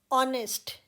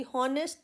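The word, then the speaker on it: honest: ऑनेस्ट, यहाँ पर भी हॉनेस्ट नहीं है, ऑनेस्ट है, तो एच साइलेंट है।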